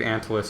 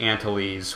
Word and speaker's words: Antilles: I am disappointed because I do believe Antilles is the way to pronounce it, even though I grew up wanting and believing it to be Antilles, which I think is a much cooler way of pronouncing it.